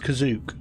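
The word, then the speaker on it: Kashyyyk: have been set on kashik or kazuk you get to take the pronunciation from the holiday special spelled kazik pronounced kazuk everybody get every single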